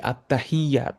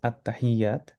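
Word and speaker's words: التحيات: অথচ এই আত্তাহিয়াত, এখানে যে ইয়ার ইয়া দুইবার উচ্চারণ হবে।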